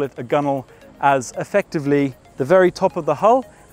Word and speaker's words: gunwale: It is the gunwale. It's spelled G-U-N-W-A-L-E, and it is this point on the edge of the deck at the top of the hull.